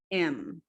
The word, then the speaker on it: aiment: Nous aimons, vous aimez, y ils o elles aiment. En este caso, la ENT no se pronuncia.